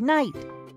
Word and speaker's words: knight: Just like we do not pronounce the K at the beginning of night.